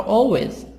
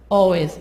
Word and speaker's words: always: But the people you meet are always always L silent, are always different from what you expect.